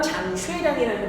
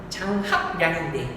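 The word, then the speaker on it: 張學良: 누구냐면 장쉐량이라는 사람입니다. 한자 발음은 장합량인데 아십니까?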